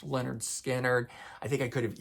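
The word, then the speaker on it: Lynyrd Skynyrd: uh the debut album which is called pronounced Leonard skinnard I think I could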